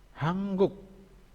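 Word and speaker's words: 한국: Hanguk. Hanguk dibacanya hangguk.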